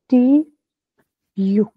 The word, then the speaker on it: tu: Next टी यू, this is ट्यू। ट्यू, यू। हाँ, क्योंकि जो यू की है ना आवाज वो गंदी सी यू वाली है, तो उसी के साथ इसको कंबाइन करके ट्यू।